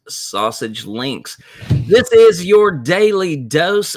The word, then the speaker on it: SASG Links: welcome to sausage links yes it is pronounced sausage links this is your daily